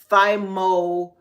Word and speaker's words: thymoquinone: something that is called thymoquinone, right? I'm gonna spell that for y'all. It's thymo, so thy, thymo, and I'll break that down in just a moment. Quinone, Quinone. Okay.